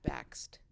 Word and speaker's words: Bakst: But you say backstabber in order to get people to pronounce it correctly. That's true. Which does help. It does. Bakst. Because you get to the T. People don't do the T.